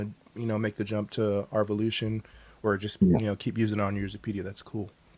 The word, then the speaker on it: R_Volution: But it's pronounced yeah, Revolution and not Arvolution. it's Arvolution, yes, Arvolution. Okay. because there is The the underscore, so okay.